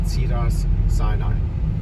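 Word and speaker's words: Cedars-Sinai: here these buildings yeah the Sinai you are pronounce it right yeah right sidas Sinai yeah that's how we say it yep that's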